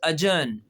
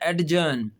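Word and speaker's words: adjourn: तो वो कहता है द कोर्ट इज अजन इसमें भी डी साइलेंट है। हालांकि हम इसको पढ़ते हैं एडजन।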